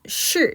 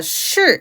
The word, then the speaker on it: 是: 자, 여러분 동사 是 입니다. 그렇죠? 자, 우선은 是 발음하실 때요. 발음 어떻게 하고 계세요? SH 발음이에요. 그렇기 때문에 건설음이죠. 자, 건설음을 발음할 때 SH 발음은 혀 위치만 잘 잡으시면 돼요.